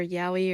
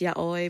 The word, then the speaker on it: yaoi: two um BL or yahi or whatever and I know it's not pronounced yahi it's yai but you know I'm